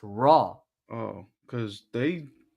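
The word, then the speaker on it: Roy: Jason, I have a suspicion you say you say Nick Nick Raw's name wrong because all they say Wah. It's Raw. Everyone says Wah. It's Raw. It's French.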